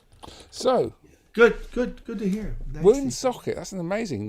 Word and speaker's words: Woonsocket: Woonsocket, that's an amazing name. I like the way she said it. She put the emphasis on the second. Woonsocket. Woonsocket, not Woonsocket, but Woonsocket. Ah.